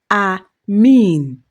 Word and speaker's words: amen: In Greek, there's a slight difference. It is pronounced a mean with a long e sound.